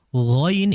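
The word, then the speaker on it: غ: Ya, ghain itu pengucapannya sangat halus, kha itu kasar menurut saya.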